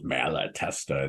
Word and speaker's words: Malatesta: Malatesta. It's how many vowels are there? Malatesta, like four syllables in it.